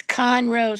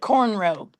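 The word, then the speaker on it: Conroe: I know it's Conro, Scotty. It's down the street from me, but we call it cornroe.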